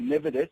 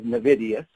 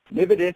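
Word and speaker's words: Nividous: So as I said before, I'm from a company called Nividus, which people are prone to mispronounce as Nividus. So Nividus is the company, and I'll just say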